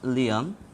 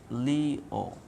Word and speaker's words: Lyon: The word not Lyon, it must be pronounced like Leo.